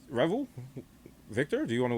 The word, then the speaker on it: Revel: I've been pronouncing it wrong. And she Oh, didn't it's have Reveal? a helmet. Yeah, it's Reveal. I Isn't it go with spelled Revel. Revel? Yeah, is it Reveal? It's Revel.